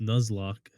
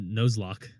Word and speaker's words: Nuzlocke: Because it's pronounced Nuzlocke. Yeah, Nuzlocke. You said Nozlocke.